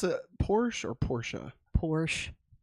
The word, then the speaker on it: Porsche: Maggie, do you pronounce it Porsche or Porsche?